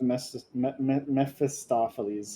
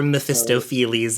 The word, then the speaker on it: Mephistopheles: Chains of Mephistopheles. I think that's how you say his name, right? Yep. Or Mephistopheles if you watch, what is it, Blue Exorcist?